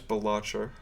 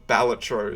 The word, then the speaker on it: Balatro: I read that as Balatro, or Balatro, as I've learned that it's pronounced.